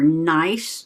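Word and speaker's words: gneiss: And my app tells me that these are nice, G-N-E-I-S-S, but pronounced nice.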